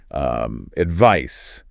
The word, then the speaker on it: advice: Another sound pair that gets confusing, S and Z, like advice versus advise.